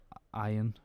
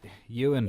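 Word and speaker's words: Ioan Gruffudd: It stars Joanne Frogger, who was out in Downton Abbey, and Fantastic Four actor Ian Gufford. Ian. Yeah. Iron Man. Ewan.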